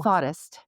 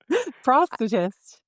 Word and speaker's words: prosthetist: Jessica's 17-year tenure as a certified prosthetist or Ooh, thoughtist. Did I say it right? prosthetist. Prosthetist.